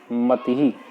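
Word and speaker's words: मतिः: जैसे शब्द देखते हैं मतिही, तो मति में ही का उच्चारण बाद में होता है।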